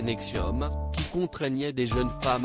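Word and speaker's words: NXIVM: pour son implication dans la secte une 80 prononcé nexium tout contraignait des jeunes femmes à l'esclavagé sexuel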